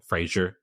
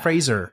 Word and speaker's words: Fraser: Yeah, Frasier. Nope. yeah. He's like, it's like Fraser, like razor.